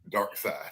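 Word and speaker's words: Darkseid: the worst the apocalypse it's spelled d-a-r-k-s-e-i-d Dark Side they didn't even put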